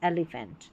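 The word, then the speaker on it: elephant: Number 5 पर है पी एच, इसको फ पढ़ना है। देखिए यहाँ पर पी एच है, पी एच है, पी एच, पी एच, पी एच, और यहाँ पर भी है, तो फ, फोन, फोटो, फोनिक्स, एलिफेंट। तो पी एच जब साथ में आएगा फ पढ़ देना है।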